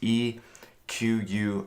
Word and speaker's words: eQuoo: the release of EQ it's e qu o I'm is how how you spell it but yes we pronounce EQ EQ I'm EQ the